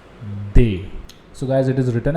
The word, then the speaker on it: des: similarly we also have indefinite plural article it's day so guys it is written as d e s where you have to pronounce it as they they okay so guys